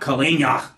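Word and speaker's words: колени: yet not Caillat nia with kalenna being in front of colino and Kaleo meaning knee remembering to put the stress on the second syllable of the appropriate form of Stotts the following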